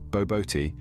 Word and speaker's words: Bobotie: Bobotie, pronounced as barbor tea, is a spiced minced meat